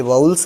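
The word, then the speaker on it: vowels: ये वॉवेल नहीं है, ये वाउल्स है, ये कॉन्सोनेंट नहीं है, कॉन्सोनेंट्स।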